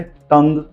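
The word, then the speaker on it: tongue: मैंने क्या कहा था लास्ट वर्ड जीयू ई हो वहां पर भी यू साइलेंट जाता है उसके एग्जांपल से टंग लीग कलीग एंड प्लेग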